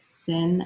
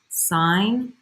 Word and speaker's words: sine: and you are just watching you're gonna say sin of theta and cos of theta don't do that don't do that when you pronounce this when you pronounce this it is sine of that's right there's an up there theta